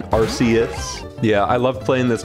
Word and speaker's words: Arceus: Also, yes, I pronounce it Arceus. I think it sounds cooler than Arceus.